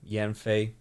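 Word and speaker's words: 烟绯: me so this is Yen Yen M Yen Fay so yen is smoke and then Fay I've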